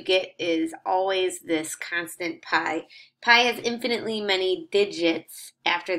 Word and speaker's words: pi: it's written this Greek letter here time it's pronounced pi pi and that is the ratio of a circles